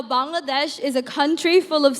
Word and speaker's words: Bangladesh: It's actually pronounced Bangladesh, not Bangladesh.